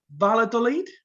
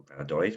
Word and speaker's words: Valladolid: side's victory over Real I'm never going to pronounce this. Valladolid. Valladolid, well done.